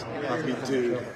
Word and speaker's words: Hoppy Dude: He said there's no S. No S. Happy dude.